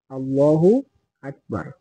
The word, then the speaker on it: আল্লাহু আকবার: আল্লাহ হবে না আল্লাহু আল্লাহ হবে হাফেশ হু আল্লাহু আকবার তারপরে হামজা কাফ জর আক 12 জর 12